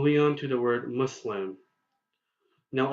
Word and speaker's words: Muslim: the word Muslim now a lot of americans americans pronounce the you in muslim as d you and the english word up whereas the UN muslim is identical to the you in english words such as push and pull rather than the you